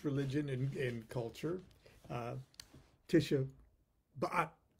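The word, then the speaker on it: Tisha B'Av: and in culture uh tisha bat i'm sure i'm saying that incorrectly but the rabbi told me that was the correct way to pronounce that anyway it deals with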